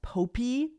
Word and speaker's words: Popee: refer to this as Pope Pope the performer because when you hear the theme song that's how it sounds like they're saying his name a lot of people pronounce it poppy though okay so Pope